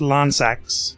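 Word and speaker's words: Lansseax: his parents axe so lan sax pronounced lance axe four to sacks fortis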